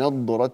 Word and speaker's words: نضرة: على الأرائك ينظرون، ينظرون هنا فخم الغنة، ينظرون، تعرف في وجوههم نضرة النعيم وليس ندرة النعيم، ند ند لا نض نض، ففرق بين الدال والضاد.